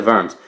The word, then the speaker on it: Worms: is called the dieta verms idea is like a meeting or a trial and verm's is a place you want to say die to worms so that's not how you pronounce it and he's very famously